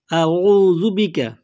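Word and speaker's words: أعوذ بك: প্রথমে হামজা, তারপরে আইন, আউযু বিকা মিন আউযু বিকা মিন শাররি আউযু বিকা মিন শাররি মা সানাতু সদ হয়, সানাতু বলবেন না, সানাতু মা সানাতু।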